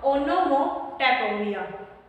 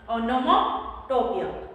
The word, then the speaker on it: onomatopoeia: ONO से बनेगा ओनो, MO से मो, TAP और पोया। तो क्या नाम बनेगा इसका, ओनोमोटोपिया, ओनोमोटोपिया।